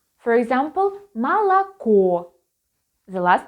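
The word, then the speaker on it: молоко: it is or but when it is not stressed it is pronounced as a for example malacco the last letter or is stressed and we read it as or but malacca so milk so you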